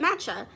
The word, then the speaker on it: matcha: a quick video just to make sure i'm pronouncing it right because that'd be real embarrassing but matcha yeah matcha tea and i'm just like i